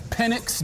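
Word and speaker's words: Penix: I'm here with Michael penx Jr Mr Big pinnix energy himself and that's pennix Desmond pronunciation is important in this moment I was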